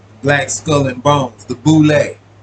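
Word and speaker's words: Boulé: is an acronym for sigma phi fi pronounced boule right fashion after yale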